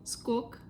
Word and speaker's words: сколько: Сколько, like how much, сколько, сколько, how much we can pronounce like скок, скок, like скок стоит, скок стоит.